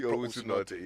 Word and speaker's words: Teete Owusu-Nortey: Yes, I'll make sure that the name is pronounced Teete Owusu-Nortey, yeah.